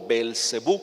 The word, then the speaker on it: Beelzebú: Pero él dice, vayan a Ecrón y consulten con Baal-Zebub o Beelzebú, cualquiera de las dos pronunciaciones es correcta.